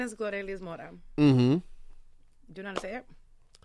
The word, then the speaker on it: Glorelys: And so then, is your real name Glory? It's Glorelys.